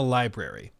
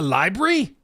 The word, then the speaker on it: library: piano in a library I have to pronounce it like a Brit it's not a library it's a library a cheap trick the